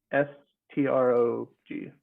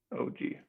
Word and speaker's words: Strog: Strog. He's a half orc. STRONG. What? Strog. So strong without the end. Strog. Okay. Ends are hard for orcs to pronounce.